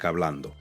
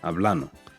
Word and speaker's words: hablando: So, in my case in particular, I've noticed a pronunciation shift in the gerundio. So, take a word like hablando.